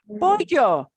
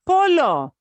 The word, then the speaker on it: pollo: Pollo, Oh, yeah. pollo. pollo, Right? It's not polo.